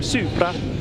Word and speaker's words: Supra: Supra.